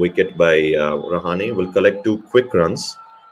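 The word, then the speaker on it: Rahane: zealand and australian commentators high time they start pronouncing rouhani as rouhani and not rouhani open stance there by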